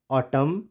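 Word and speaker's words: autumn: तो ये कॉलमन नहीं होगा, क्या होगा, column, ऑटम, dam, hymn, condemn और सोलेम।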